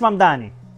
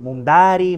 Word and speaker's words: Mamdani: Es Mamdani, pero a cada rato me dicen Mumdari, Mumnari, y esto es algo que muchos inmigrantes tenemos en común.